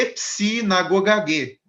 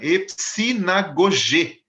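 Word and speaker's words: ἐπισυναγωγή: Que é epsinagogagê. Não é isso, né? Epsinagogê, né? É a palavra grega para reunião no versículo 25 de Hebreus.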